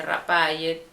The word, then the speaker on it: Rafael: el caso de Rafael para pronunciar Rafael cuando la f no existe en el guayuna que dice rapay Y entonces ellos por